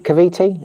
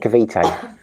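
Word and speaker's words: Cavite: say it had kav kaviti or kaviti kavit kav kavete very Spanish over it kavite I said kavit but because I've been here I know it's kav a decent English breakfast in Duma.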